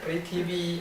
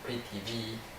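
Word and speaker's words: पृथ्वी: And finally, prithvi or prithvi, the same. Последняя категория это притиви или притиви, то же самое. I will use prithvi. Я использую притиви. It's more usual.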